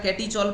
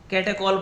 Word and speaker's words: catechol: बहुत सारा कैटीचॉल पढ़ता है, कैटीचॉल नहीं कैटेकॉल पढ़ा जाता है, राइट. सो कैटीचॉल नहीं पढ़ना है, कैटेकॉल इज the right pronunciation of benzene 1 2 diol common name.